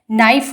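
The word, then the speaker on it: knife: नाइफ बोलते हैं तो के साइलेंट रहता है।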